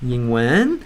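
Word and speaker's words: 英文: Say ying in a pitch that's higher than usual. Ying wen.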